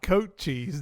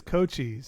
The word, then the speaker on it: Cochise: need to wake up it's not coat cheese dude it's cochise it's not i thought